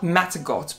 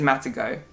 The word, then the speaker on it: Matagot: It's spelled Matagot, but I'm assuming because it's French, it's going to be Matagot, but I don't know. French viewers are going to have to correct me if that's, or confirm if that's correct pronunciation or not, but I think it's Matagot.